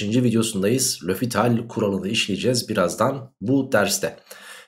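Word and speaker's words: L'Hôpital: bir yöntem daha bu yöntemin ismi lofital arkadaşlar lehospital diyen de var o kuruluşuyla yapmakta da fayda var yani lofital diye telaffuzu varmış Eğer 0/0 oluyorsa arkadaşlarım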